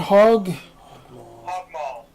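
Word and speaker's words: Hog Maul: How do you pronounce this again, Todd? Hog Mall.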